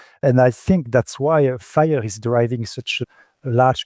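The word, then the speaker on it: FHIR: And for the listeners, Fire in this case is spelled F-H-I-R. It's the standard Fire, not, the fire where you call the fire department, just in case anyone didn't know.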